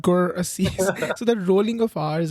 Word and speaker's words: Gurasis: and rolling of R's, like we in our country we say work not work, we say birth not birth, we Right. say Gurasis not Gurasis.